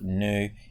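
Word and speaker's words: ν: those things but this little symbol here it's pronounced new it's kind of like a little v that's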